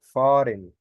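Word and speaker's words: fahren: وتر تمام واللي بعديها خلي بالك حرف الها اللي في النص ده حرف الاتش مش هنطقه وهنعرف ليه كمان شويه اسمه ايه بقى فارن فارن فارن فارن فارن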